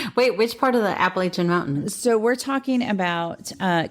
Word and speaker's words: Appalachian: So, the Appalachia, the Appalachian Mountains. Appalachian. You're supposed to say it like Appalachia. But it's the Appalachian Mountains. Sure.